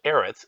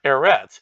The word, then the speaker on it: Eretz: And keep in mind, Eretz would be earth, which would be with an aleph, which is a silent letter, just like ayin is.